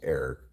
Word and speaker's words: Eric: My name's Eric, Kayla. Rhymes with Peric.